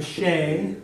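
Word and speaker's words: sé: 6 is a shay, which is spelled the same way as shay as in he.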